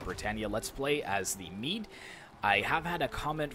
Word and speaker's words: Mide: but in fact meat would be a closer pronunciation of it so I will call it Mead from now on until told otherwise but regardless